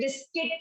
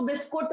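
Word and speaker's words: biscuit: अब कितने लोग हैं यहाँ पे जो अभी भी बिस्किट को बिस्कुट बोलते हैं? बहुत सारे होंगे ना। करेक्ट प्रोनाउंसिएशन इज बिस्किट, पर हम बोलते हैं बिस्कुट।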